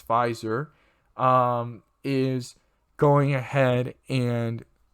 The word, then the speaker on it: Pfizer: already and morena and pfizer or pfitzer however you want to pronounce it but it's pfizer um is going ahead